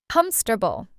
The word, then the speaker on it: comfortable: This word means not hard to use and we say it in only three parts, not four. Comfortable.